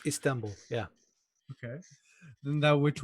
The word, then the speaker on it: Istanbul: Constantinople, later Istanbul, is that the correct Yeah, pronunciation of Istanbul is Istanbul? correct. It's Istanbul.